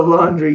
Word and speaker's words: laundry: And laundry is actually spelled like this. It doesn't need an A, but it sounds like it when we speak, right? Laundry. It sounds like we throw an A in there when we really don't.